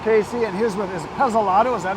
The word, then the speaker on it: Pezzolato: And I am here with Casey, and he's with, is Pezzolato, is that how you say it? Yep, Pezzolato.